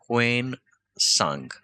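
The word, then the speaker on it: Hiuen Tsang: और उनका नाम है व्वेन सांग टी साइलेंट है यहां पे ठीक है व्वेनसांग इन्होंने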